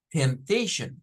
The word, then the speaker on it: temptation: me ha dado problema la palabra temptation que la p es la que nos suena o sea solo debemos decir tem temptation y ya de ahí